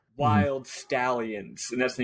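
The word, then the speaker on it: Wyld Stallyns: stalin's not wild i was reading it as wild stallings but they do they do the bill and tell my favorite communist bill and ted do pronounce it wild stallions but yeah obviously i could play on like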